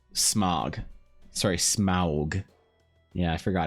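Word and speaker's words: Smaug: kind of more like smog sorry smog yeah I forgot if you say smog people know what you're talking about you have to say smog this is this is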